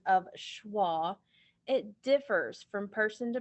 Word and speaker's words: schwa: this word together ready the tricky part of that word is the sch because it just sounds like sh so the symbol for